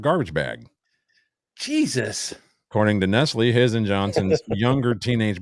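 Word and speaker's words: Knesley: Nestle. I got you. Maybe it's like Nestle. I was going to say the K is silent. Then why even bother? But go ahead. Yeah, like knife.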